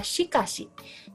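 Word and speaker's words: しかし: Sakana berbeda pelafalannya dengan huruf s pada kata sikasi jadi S ini dan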